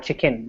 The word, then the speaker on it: check-in: We have to spell the word to check in or combine check-in, because when we say check-in, chicken, it sounds like the animal.